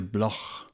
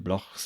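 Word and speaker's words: Bloch: that attack on Mr Block perhaps to give an Israelite name a more foreign sound pronounced not like a k but as in the German ha when he said about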